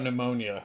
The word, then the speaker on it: pneumonia: I've never seen that how about pneumonia would you put would you keep the PE in there or would you take the PE off pneumonia yeah take the pee off take the pee off